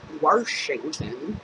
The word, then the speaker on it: Washington: I live in Washington I don't add an r into Washington but a lot of